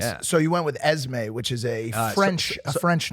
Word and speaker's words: Esmé: Esmé Agdal-Paul, beautiful little baby. I miss her already. How many syllables is the name? 2.